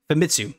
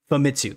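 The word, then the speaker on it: Famitsu: weekly uh oh my God I I always pronounce this incorrectly uh fat mitsu femitsu there we go fumitsu thank you weekly fumitsu but we celebrate that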